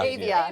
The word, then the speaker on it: Avia: It was in I'm gonna pronounce this wrong. Avia shoe, I believe is what Avia. Avia.